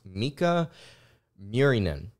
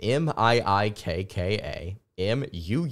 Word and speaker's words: Miikka Muurinen: I believe his name is pronounced Miikka Muurinen. I believe that's how you pronounce his name. M-I-I-K-K-A M-U-U-R-I-N-E-N.